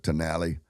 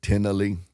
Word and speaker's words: Tenali: Americans might pronounce it Tenali, but the Indians call it Tenali.